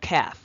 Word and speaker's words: calf: for example we have calf do not pronounce that L please not Cal but calf CF you say CF